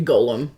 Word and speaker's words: Golem: Well, technically, it should be like phonetically, it should be Golem because there's only one L.